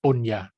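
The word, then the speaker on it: puñña: The original Pali term is punya. Yeah, it's like an N, but it's like pronounced like a Y, punya.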